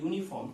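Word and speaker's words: uniform: यू यहाँ पर vowel है, फिर भी दोस्तों यहाँ पर उच्चारण में यूनी आ रहा है, यूनिफॉर्म।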